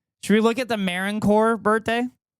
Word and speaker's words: Marine Corps: Should we look at the Marine Corps birthday? Yes, I'm saying it correctly. It says U.S. Marine Corps birthday. U.S. Marine Corps, not Marine Corps, Marine Corps.